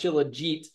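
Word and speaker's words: shilajit: learned that it's pronounced chillit um at least how they pronounce it in in the Himalayas where it comes from but and is Himalayan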